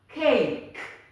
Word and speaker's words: cake: bring in your K this e is not there is silent cake cake very very simple okay